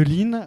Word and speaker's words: Leeen: Je suis Nicolas Durst, un des 3 cofondateurs de Line. Alors, Line, ça s'écrit avec 3 E, puisque c'est la synthèse de leasing et green.